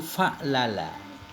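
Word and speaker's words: فَعْلَلَ: satu macam doang, yaitu fa'lala. Bagaimana cara baca fa'lala? Bi fathil fa'i, fathah fa'nya, wal lamaini dan fathah 2 lamnya lala, dan sukunil aini dengan sukun in. Fa'lala.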